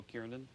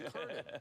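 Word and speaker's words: Kernen: heard of named Joe Kiernan. That's how the president pronounces my name, too. It's Kernan. It's Kernan. I say Kernan.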